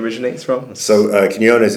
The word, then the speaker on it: Quinones: So phonetically it'd be Keen, K-E-N, Yo, Y-O-N-E-Z, Quinones. Quinones.